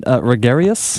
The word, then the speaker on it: Regarius: So this is, am I pronouncing it right? Regarius? That's right.